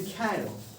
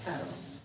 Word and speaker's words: Cairo: राजधानी तो इसको कायरो मिलेगी आपको, CAIRO, इसको बोलते कैरो, ठीक है, जब उसमें बोले कैरो, इजिप्ट कैरो, हाँ गूगल ट्रांसलेट, कैरो हो गया, लिख लिए?